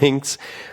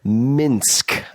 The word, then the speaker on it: Minsk: Not Minsk, Minsk.